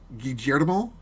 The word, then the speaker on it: Guillermo: me guillermo del toro guillermo with the j GJ demo that's how you pronounce a double l oh ok Jetta mother